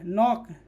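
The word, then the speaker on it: knock: ठीक है, याद रखना, एन से पहले आया के साइलेंट होता है, जैसे के एन ओ सिक्के नॉक, ठीक है, एन के पहले के आया है तो के क्या होगा, साइलेंट होगा। के एन ई ए डी क्या होगा, नीड।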